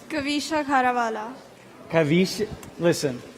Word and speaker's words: Kavisha: Kavisha Kharawala.